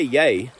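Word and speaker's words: jeg: stevogno you would say you wouldn't say yay which is j-e-g which is how you say i you'd say egg e.g and we say our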